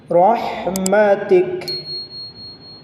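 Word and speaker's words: رحمتك: পেশ থাকে থামতে গেলে এটার উপরে সাকিন করে এটাকে সাকিন ধরে পড়তে হবে রহমাতিক রহমাতিক আবারো আমার সাথে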